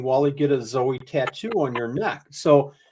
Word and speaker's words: Zowie: Have I been pronouncing it wrong? Is it Zowie? You've been saying it right.